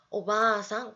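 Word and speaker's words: おばあさん: 장음할 때 요것도 했었죠. 오바상 발음해 주시면 됩니다.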